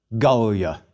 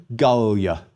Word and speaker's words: Gallia: Gallia. 3 syllables, but the penult is short, so we accent the first syllable. Again, Gaul, please repeat, Gallia.